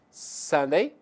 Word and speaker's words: Sunday: pronunciada com mais ênfase preste atenção a sílaba tônica é na verdade a primeira da palavra Observe então nós temos Days of the Week nós temos Sunday celeba tônica sun Monday tuesday wednesday atenção